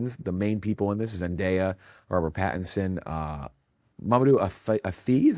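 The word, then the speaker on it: Mamoudou Athie: The main people in this, Zenaia, Arbor Patinson, uh, Madu Ai, is how you say his name, Alana Hay, who's been in I feel like everything lately.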